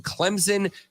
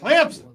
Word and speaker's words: Clemson: Clemson. Clemson with a P in it.